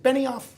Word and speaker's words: Benioff: And Mark, is it Benioff? Is that how you pronounce it? It is Benioff, yeah.